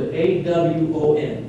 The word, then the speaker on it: awon: In the Old Testament, the word A-W-O-N, A-W-O-N, pronounced Awon, is consistently used for the rebellious nature of the human being.